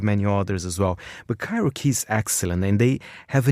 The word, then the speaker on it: Cairokee: How would you pronounce it? Well, I would say Cairokee.